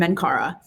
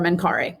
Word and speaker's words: Menkaure: And the three pyramids, Khufu, Khafre, and Menkaura, or Menkaure, depending on who is saying it.